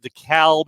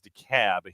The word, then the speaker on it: DeKalb: It is pronounced DeKalb in Illinois. It is DeKalb here in the Atlanta area.